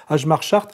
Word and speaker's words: Hjalmar Schacht: Et ce qui est intéressant, c'est que ce monsieur qu'on prononce Ajmar Chart, n'est-ce pas, enfin, qui s'appelle comme ça, mais ça se prononce Chart, oui, Ajmar Chart, nous raconte en fait